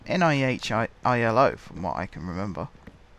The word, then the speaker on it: nihilo: pronounce that I think some people say no hallo but it's NIH I ILO from what I can